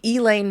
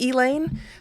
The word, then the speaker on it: Elaine: that most people have never heard of the elain massacre the only reason that most people if they do know about elain um it's pronounced elain because it's the South um is because of